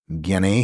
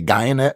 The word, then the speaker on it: Guyenet: name for sure, Stefan Guyenet, he says pronounced like DNA. I would just say Guyenet because I'm American.